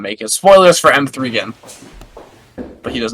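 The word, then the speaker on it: M3GAN: It's pronounced M3 again.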